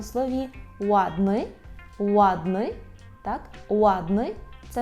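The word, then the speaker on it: ładny: Наприклад, у слові «ладни», «ладни», так? «Ладни» – це не «ладни», це не «вадни», це «ладни». І знову ж таки, щоб отримати цей звук, обов'язково потрібно витягнути губи у трубочку. «Ладни» – гарний, «латви», «латви» – легкий, «ладни», «латви».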